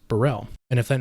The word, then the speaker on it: BXRRELL: Now, yes, I know there is an X in the name. However, as far as I understand it, the band name is pronounced Burrell.